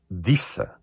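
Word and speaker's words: Desa: Há um nome que eu também acho muito interessante, que é um D-E-S-A. Pronuncia-se Dissa. Era de Sá.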